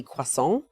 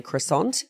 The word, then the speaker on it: croissant: I think the traditional French pronunciation would be quas, but in Australia, it's very common to say croissant. And I'm not one to judge someone for coming in and ordering a quissant.